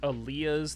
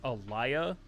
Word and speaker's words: Aaliyah: of the Damned and I pronounced Aaliyah's name as Elia the the black actress